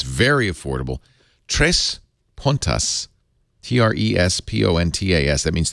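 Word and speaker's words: Três Pontas: Tres Puntas. T-R-E-S-P-O-N-T-A-S. That means 3 points in Portuguese. Tres Puntas. Actually, if I'm going to say it in Portuguese, it would be Tres Puntas, I was told.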